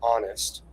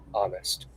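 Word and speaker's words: Onust: Um one of our products, and uh that's the first product I'll talk about, is Honest. Um it's pronounced like I'm going to be honest with you, but it's spelled o n u s t.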